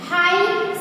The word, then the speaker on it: high: हाई, side, HIGH, हाई, इसमें भी आप देखो GH और यहाँ पे भी GH, तो यहाँ पे हमें HI का ही साउंड करना है, GH है वो साइलेंट है, SIGH, इसमें भी I ही साई ही बोलना है, GH है वो साइलेंट है दोनों में।